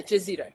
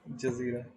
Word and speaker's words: Jazireh: Am I pronouncing it correct? Yeah. Jazireh. Jazireh.